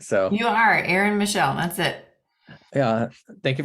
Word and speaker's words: Aryn Michelle: guest we have Aaron Michelle I think I pronounced your name right so you are Aaron Michelle that's it yeah thank you for joining us